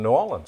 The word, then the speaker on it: New Orleans: She was a trained chef in New Orleans. Yeah. I think I pronounced that right. New Orleans? No, I think you said Nolans? Nolans. Nolans. That's the way they do it.